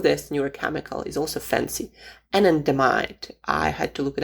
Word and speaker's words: anandamide: The name of this neurochemical is also fancy, anandamide. I had to look it up how you pronounce it actually, because I see it in